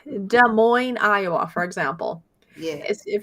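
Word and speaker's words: Des Moines: There's no There is an S, but you don't say it. It's silent. It's kind of like De Moine, Iowa, for example.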